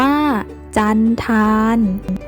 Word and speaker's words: จัณฑาล: คำ ต่อ ไป ค่ะ จัณฑาล อ่าน ว่า จัณฑาล หมาย ถึง ต่ำ ช้า